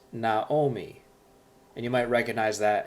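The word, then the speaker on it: נָעֳמִי: And when that happens, it changes to an O sound, like an O.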